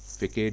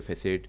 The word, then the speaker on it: façade: है वह फेकेड है फेकेड या फैसेड दोनों तरीके से इसको प्रोनाउंस करते तो आपने शेप मेकर